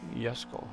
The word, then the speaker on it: Jesco: That dang Jesco. I know it's Jesco, but someone told me, they tell me, I know it's a J, but they actually pronounce it like a Y, Jesco.